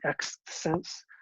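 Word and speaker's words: Xth Sense: A more recent variation on this kind of concept is the X sense, X-TH. So like tenth, but X pronunciation is a little rough on this one.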